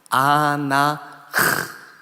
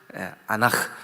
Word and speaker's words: 아나흐: 이게 원어로 아나흐, 아나흐 한번 발음해 보실래요? 아나흐. 흐는 이렇게 그 발음이 없는 발음이에요. 이렇게 아나흐 이렇게 발음해요.